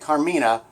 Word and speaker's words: Karmina: But here's how you say it, Karmina. Um that's how you spell it.